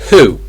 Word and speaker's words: who: not sure why but anything beginning with h you don't pronounce the h so for example hour well hour is not a good example um for example who should be H who English o o o o that o uh or there's house ass my ass not my house it's my